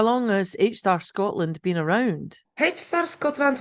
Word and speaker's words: HSTAR: heart hi evina hi your organization is it h star or h s a r or how do I pronounce that our organization is called H star